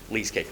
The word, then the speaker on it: LeaseCake: So yeah, it's called LeaseCake, rhymes with cheesecake.